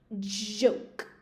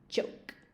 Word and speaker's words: joke: Chiste, joke, joke. So my teeth touch when I say that, joke. And yema, yoke, yoke. My teeth don't touch when I say yoke.